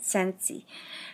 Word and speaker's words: Scentsy: I have to learn to say it right sensey and it comes with one of these things